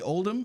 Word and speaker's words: Oldham: I've got Aaron Quiggle and Oldham. Did I say those right? Absolutely. I've only ever written them down, so I know I've met you guys before.